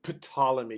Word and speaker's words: Ptolemy: is in syria and the ptolemy i say ptolemy because it's pt it's probably ptolemy by saying